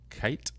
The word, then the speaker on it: Cait: And I've seen somebody go by Kate, and I'm pretty sure they spelled it C-A-I-T. Yep. Mm-hmm. Which is just Kate.